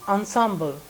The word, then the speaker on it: ensemble: Auspicious, indispensable, then ensemble. I told you how to pronounce this word. It is ensemble.